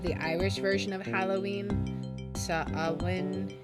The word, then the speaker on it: Samhain: Samhain is how it's pronounced.